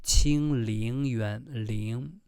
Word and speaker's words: 清冷渊: The pronunciation is not 冷. 冷 means cold. However, the real pronunciation supposed to be 清陵园. 陵 no, that is not the reading. Yeah, 陵 supposed read like this.